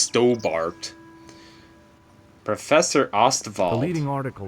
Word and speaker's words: Stobbart: it's really funny that his name is like staubert but it's pronounced stobart professor osterval the leading